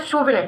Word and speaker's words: souvenir: तो सबसे पहला जो हमारा वर्ड है वो है शूविनर। क्या? सूविनर, ठीक है। शूविनर प्रोनाउंसिएशन है इसकी सूविनर, ठीक है।